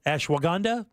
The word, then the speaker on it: ashwagandha: right okay including ashanda is that how you pronounce that ashw ashwagandha oh yeah okay okay green tea extract oh